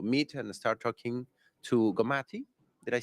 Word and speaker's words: Gomathi: And right now, I got to meet and start talking to Gomathi.